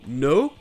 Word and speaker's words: know: Le "k" est silencieux donc ça se prononce juste "n" comme dans "know" "knight" ou encore "knee".